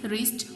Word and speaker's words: wrist: Silent W, Taha is wrapping his wrist watch.